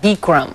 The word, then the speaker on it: Bikram: advantage right it's called bam yoga if you haven't I guess it's called beum that's the right way to say it but I say you